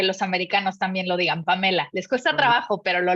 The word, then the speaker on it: Pamela: gracias dicen Pamela o Pamela Cómo cómo te Pamela de hecho lo pronunciaste como lo pronunciamos los latinos y así es como hago que los americanos también lo digan Pamela les cuesta trabajo pero